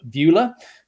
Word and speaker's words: Beulah: Chief Operating Officer of Beulah um it's a it's a tricky name to pronounce but if you remember the old American movie Ferris Bueller's big day out it's like Beulah Ferris Bueller Beulah and we are now